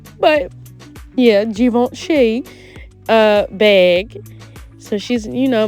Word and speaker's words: Givenchy: You know, y'all, let me tell y'all, before I used to say Givenchy. Please don't beat me up. But yeah, I used to say that. I only know how to say it right now because of Beyonce.